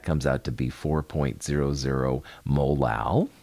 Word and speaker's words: molal: That comes out to be 4.00 molal. Molal is how you say it.